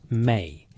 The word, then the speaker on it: me: This transfer involved entities called me, pronounced may, a Sumerian term that scholars struggle to translate adequately.